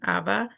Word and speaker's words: Eva: I've heard it pronounced being Ava, I do believe, even though it's spelled Eva, EVA. So I know of her, but don't know her.